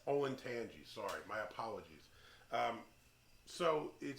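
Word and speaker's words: Olentangy: was so hot so i believe it's pronounced oh and tangy oh and tangy when i say tangy yes olin tangy sorry my apologies so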